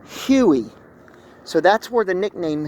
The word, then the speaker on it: Huey: see right here, UH-1, they would pronounce that as Ooey, and then that came to Huey.